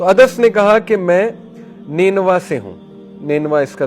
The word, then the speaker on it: نینوا: تو ادس نے کہا کہ میں نینوا سے ہوں۔ نینوا اس کا تلفظ ہے NINEVEH۔ نینوا جو ہے یہ عراق